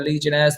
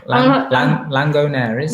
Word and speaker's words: Legionnaires: Do you guys do any risk assessment for the Legionnaire's disease? Or how do you say that? How do you normally say that? No. Langonaires. No, I do not say that. Legionnaires.